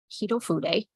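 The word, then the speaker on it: Hitofude: A lot of people don't know that's how you pronounce it. Hito Fude.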